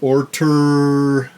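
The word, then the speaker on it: Ortur: It's an Orter, that's how you say it.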